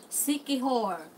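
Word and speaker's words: Siquijor: Sikihor.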